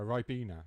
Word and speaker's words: Ribena: A Ribena, that's how you say it.